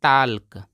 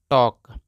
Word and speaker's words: talk: इसको काफ़ी सारे लोग पढ़ते हैं टाल्क, टाल्क इसको नहीं पढ़ना है, इसको पढ़ते हैं टॉक। ये टाल्क गलत है और ये टॉक सही है।